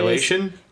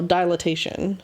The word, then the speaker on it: dilatation: Dilation? No, dilatation.